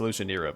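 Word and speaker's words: Alushinyrra: It's actually pronounced Elushanira, but I like Elushanira.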